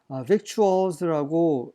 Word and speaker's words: victuals: victuals라고 읽어야 되는데 사전에 보니까 victual이라고 읽어야 된다고 하더라고요.